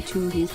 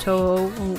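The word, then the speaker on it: Touhou: Lots of people like you say Tuhu. I say Tuhu for the lols. I know like it's pronounced Toho, of course, but Matuhu music. So I pronounce it like the number 2 and then who.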